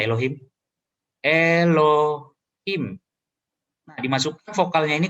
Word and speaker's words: Elohim: Ini bacanya Elohim.